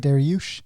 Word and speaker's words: Dariush: der yoush that's how you say it right daryush yeah um talk to me about this fight